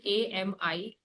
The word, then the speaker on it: ami: But when we talk about masculine, AMI, clear? AMI come in case of masculine. So if you, but pronunciation is same.